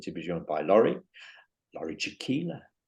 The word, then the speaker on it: Jakiela: So today I'm delighted to be joined by Laurie Jakiela. Rhymes with tequila.